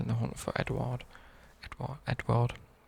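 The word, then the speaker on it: Édouard: Edward. I call it EDOUARD because it's not spelled like Edward.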